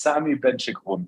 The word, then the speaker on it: Sami Benchekroun: name very good so it's here and it's Sami benchikon so here we go brilliant yours uh you're